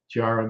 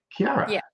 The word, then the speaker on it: Chiara: I And I haven't butchered your name anymore since No, I But I'm sure you've been called that before what I said. Tiara, but Kiara.